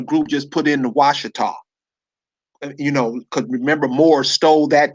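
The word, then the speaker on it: Ouachita: Washita is spelled Ouchita.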